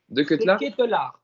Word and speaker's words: De Ketelaere: Je le prononce bien? De Ketelaere. De Ketelaere. En plus, la fin de son nom termine pareil que moi. Capelaire à la fin. J'allais dire, ouais. Ketelaere, c'est pareil.